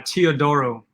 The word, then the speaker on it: Teodoro: which is polish and uh teodoro which is actually greek so my father was